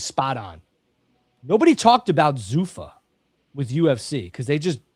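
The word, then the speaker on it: Zuffa: Zufa, which I thought was Zafa for the longest time.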